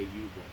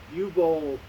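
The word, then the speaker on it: Uwe Boll: You tell me how to pronounce it, because I say U-Bowl.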